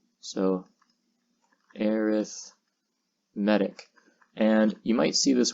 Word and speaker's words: arithmetic: to talk about is arithmetic so aerith medic and you might see this word and you might want to pronounce it arithmetic and you can but it depends on the context surrounding it in this context as